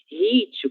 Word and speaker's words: hit: Hit, como eu comentei com vocês, é uma palavra que ela não é brasileira e ela não foi abrasileirada. E é por isso que esse H será pronunciado da mesma forma do inglês, hit, certo?